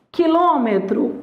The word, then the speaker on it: quilômetro: justificativa Então você tem ó quilômetro a sílaba tônica é é a anti penúltima essa palavra ela é uma proparoxítona então o que que